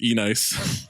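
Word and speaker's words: Enyce: There was a time where I thought Nietzsche was pronounced E-nice.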